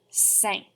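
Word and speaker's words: cinq: all right good job number five sounds like the word sank like you sank my battleship try it for me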